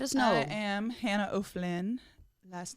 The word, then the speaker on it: O'Flynn: I am Hannah O'Flynn.